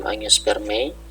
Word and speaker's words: angiospermae: Tanin di sini terdapat luas dalam tumbuhan berpembuluh dalam angiospermae. Ingat ya cara bacanya tadi, AE dibaca E gitu ya.